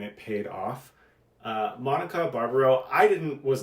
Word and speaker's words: Barbaro: Grande uh Zoe Hela and Monica Barbaro uh which I learned is the correct pronunciation Ben um these performances